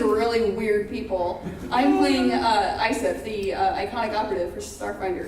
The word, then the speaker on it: Iseph: So it's pronounced Isef? It's Isef. Isef. ISEPH, Isef. Isef. Yes, like iPhone, but Isef. Yeah. With an F. With an F. Definitely an F.